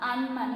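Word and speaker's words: अनमन: For example, upavana, upavan, gada, bada, gad, bad, ana, an, mana, man, anman. You should not say like ana, mana. It is anman, nata, nat, khata, khat,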